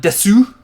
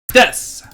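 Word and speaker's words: です: its ski Aki and it's not desu you it's this and it oh that's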